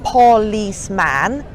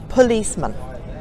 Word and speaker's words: policeman: another word policemen now where's the stress the stress is on the second syllable its isse okay which basically means that the other two vowels become schwarz so it's pur Lisse money not poor lease man policeman and here's another one